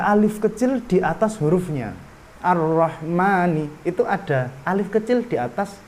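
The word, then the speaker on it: الرحمن: juga yang sebaliknya ahlinya Nggak ditulis tapi dibacanya panjang misalnya ar-rahmani Bismillahirrohmanirrohim gak mungkin kalian Menulis ar-rahman terus ada Alfian tapi tetep dibaca panjang nanya ar-rahmani ar-rahmani meskipun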